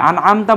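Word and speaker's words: أَنْعَمْتَ: দিয়েছো তুমি নেয়ামত দিয়েছো কেউ যদি আমতার পরিবর্তে আনআতু পড়ে তাহলে সেটা শিরক হয়ে যাবে কারণ আনআমতু মানে তখন হয়ে যাবে আমি সাবজেক্ট যে আমি নিয়ামত দিছি তখন শিরক হয়ে যাবে এজন্য আনআমতা খেয়াল রাখতে হবে যে এটা হচ্ছে আনআমতা অর্থাৎ একটু হরকতের একটু চেঞ্জ হলে কিন্তু শব্দ চেঞ্জ অর্থ চেঞ্জ হয়ে যাবে তাহলে আনআমতা যাদেরকে তুমি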